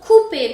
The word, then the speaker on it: coupé: Después tenemos coupé, porque OU es U, entonces tenemos coupé. ER en fin de palabra se pronuncia E.